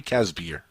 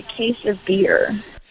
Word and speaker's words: Casbier: right by the way casper that it uh it's actually pronounced like a case of beer that's awesome are you kidding